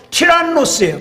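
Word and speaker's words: Tyrannus: 두란노 서원이라고 돼 있는데이 두란노 서원은 원래 원 발음은 뭐예요 티라노스 두란노가 티라노스이 티라노스 사람이 장소를 빌려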